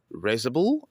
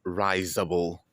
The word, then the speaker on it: risible: Today's word is an adjective and it has two pronunciations: risible and risible.